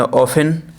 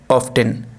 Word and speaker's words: often: ये पढ़ा जाएगा ब्रिटिश में ऑफन, इसे पढ़ा जाएगा ऑफ्टन।